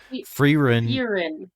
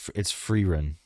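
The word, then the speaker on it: Frieren: Freerun. Furin. No, it's Freerun.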